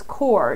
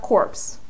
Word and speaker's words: Corps: just so you know you do not pronounce the S at the end of that word it's core it's not corpse that's not the word